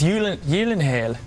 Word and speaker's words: Gyllenhaal: have to go with the Swedish pronunciation of gyllenhal which is I think I really think it's y Yen I think it is